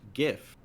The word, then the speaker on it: GIF: it is pretty once gif the first word in the acronym is graphics it's not graphics you're on the side of gift Greg get hard G wonderful okay no but